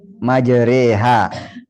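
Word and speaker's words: مجراها: Membaca fathah yang dimiringkan ke kasrah atau alif miring ke ya. Menjadi majreha.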